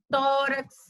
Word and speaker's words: tórax: Clímax, córtex, dúplex, fênix, hélix, índex, látex, tórax. Então, vamos perceber aqui a palavra tórax. Tórax. Perceba que a penúltima, ela tem duas sílabas. Última, penúltima. A penúltima, ela é acentuada, certo?